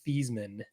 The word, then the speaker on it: Theismann: I will never pronounce his name the way he proclaims it's called, because his name is Theismann. Yeah, but it doesn't rhyme with Heisman.